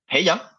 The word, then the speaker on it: Heya: D'abord, là, pour pas qu'il y ait pas de quiproquo, comment on prononce le nom de la nouvelle agence? Heya. C'est très anglophone comme prononciation, mais on voulait quelque